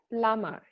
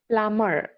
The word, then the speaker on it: plumber: The how we pronounce this word it is plumber. B is actually silent there.